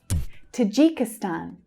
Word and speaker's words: Tajikistan: Tajikistan. Tajikistan. So the main stress here, like all of the other stans, is on the last syllable, but we can also hear the first syllable clearly.